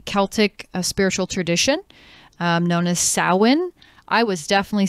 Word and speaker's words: Samhain: It's a Gaelic word. So it is spelled S-A-M-H-A-I-N.